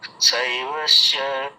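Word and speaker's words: शैब्यश्च: दृष्टकेतु चकितानः काशीराजस्य वीर्यवान् पुरजित् कुन्तीभोजश्च शैवश्च नरपुङ्गवः। হ্যাঁ, আপনার ওই শৈবাশ্চা, এটা তালু স্বরের উচ্চারণ করুন, শৈবাশ্চা।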